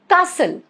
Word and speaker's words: castle: T is silent. Castle.